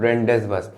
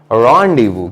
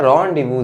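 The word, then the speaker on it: rendezvous: समझ में आएगा कि दिस इज नॉट कॉल्ड रेंडेसबस, बल्कि इसका सही प्रोनाउंसिएशन होता है रॉन्डिवू। क्या होता है? रॉन्डिवू। जेड साइलेंट रहता है और यहाँ पे अगेन एस बी साइलेंट रहता है।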